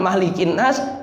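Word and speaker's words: ملك الناس: itu yang Maliki yaumiddin sedangkan malikinas dibaca pendek Karena bukan Mad bukan tidak ada madnya sama sekali Nah itu pun kalau Maliki yaumiddin boleh dibaca Maliki Maliki yaumiddin dibaca pendek boleh tapi kalau malikinas tidak boleh dibaca panjangikinas tidak boleh jelas jadi bukan bukan boleh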